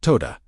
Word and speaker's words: todah: The Aramaic word to hold in your body as you speak is todah, pronounced todah, with the second syllable carrying the weight.